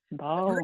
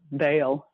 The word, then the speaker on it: Ba'al: good old ball yeah ball his name pronounced ball too I've heard it a couple different ways so ball or b b or Bale is yeah yeah and I